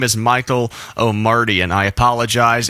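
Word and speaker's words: Michael Omartian: Reminiscing was arranged by Michael O'Meridan. I am so sorry. That is not how you pronounce his name. His name is Michael O'Mardian.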